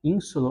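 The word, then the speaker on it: insula: Ah, e aí nós dizemos ainda sílaba prima in, ou seja, a sílaba primeira é im. Segunda, a sílaba segunda, né, é su. Ah, e a sílaba terceira ou tértia é la, insulá. São três sílabas.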